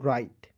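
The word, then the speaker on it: write: पढ़ेंगे इसे पढ़ेंगे देखिए शुरुआत में जब डब्लू है इसे हम लोग कैंसिल कर देंगे काट देंगे ठीक है यानी कि इसमें में डब्लू जो है साइलेंट रहता है आर आई टी ई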